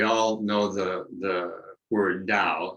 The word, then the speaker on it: Tao: know the the word dao it's pronounced with the d it's spelled with a t tao and it means